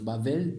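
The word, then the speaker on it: בבל: c'est pourquoi on l'appela bavelle on prononce bavelle mais on écrit Babel BBL et c'est facile en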